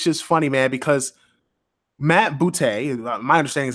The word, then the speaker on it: Booty: it's it's it's just funny man because matt bootay my understanding is how it's pronounced not booty but boot a the cool thing about it